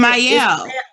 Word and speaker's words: Mielle: Like it's not pronounced Michelle. It's like Mielle or something like that. Mielle.